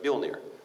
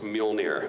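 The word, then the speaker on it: Mjölnir: episodes in we are we still struggle with the pronunciation of bill near Neil near you know we're talking about right for stammer the old ear all right and every time travis willingham biggest comic book nerd in the world our our director doesn't because it's my hammer it's mill near Mjolnir say it right anyway another little fun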